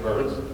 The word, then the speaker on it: Byrns: ain't it interesting that my last name is pronounced burns and i'm a burn